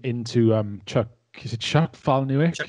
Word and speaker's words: Palahniuk: Is it Chuck Palahniuk? Chuck Palahniuk, yeah. Palahniuk.